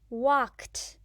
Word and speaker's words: walked: words mopped walked watched did you say T you're right in these words Edie makes the sound mopped walked watched let's look at an example in more detail wawk wawk wawk is one syllable walk walked walked walked is still one syllable walked on Wednesday I